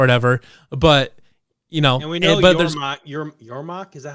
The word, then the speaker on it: Yormark: But and we know Yormark, is that how you say it? Yeah, Yormark.